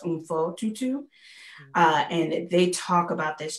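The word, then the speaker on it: Mpho Tutu: And rereading this book called The Book of Forgiving by Desmond Tutu and his daughter, I think her name is pronounced Umfo Tutu.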